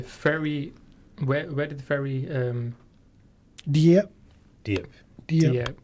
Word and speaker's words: Dieppe: Dieppe. Dieppe. Yeah, Dieppe. So I that's think what- that's how it's pronounced.